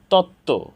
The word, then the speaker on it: তত্ত্ব: আলাদা অর্থ আছে তত্ত্ব এখানে যুক্ত ব্যঞ্জন বর্ণের সাথে ব ফলা যুক্ত হওয়ার কারণে ব ফলার উচ্চারণ হয়নি তো দর্শক শ্রোতা আমরা